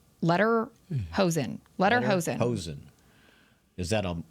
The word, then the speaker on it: Lederhosen: Ledhorsen? Lederhosen.